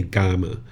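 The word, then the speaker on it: kamma: So people who study his teachings will usually say gama.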